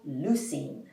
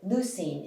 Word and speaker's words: leucine: amino acid it's called leucine just remember i love lucy although leucine is not spelled like lucy instead of l-u-c-y it's spelled l-e-u c-i-n-e leucine is one of the